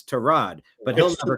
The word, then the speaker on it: Tyrod: Mr. Taylor's mother didn't name him after a car part. It's it's Terrod.